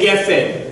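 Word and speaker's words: גפן: So everyone say geffen. So here the emphasis, because it's a double E, just like in Keref. Put this back to where it is. Okay. So the emphasis goes on the first syllable.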